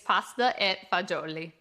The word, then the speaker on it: pasta e fagioli: This is a great one because Italian Americans always know pasta fazool, but Italians won't recognize the fazool. It's pasta e fagioli.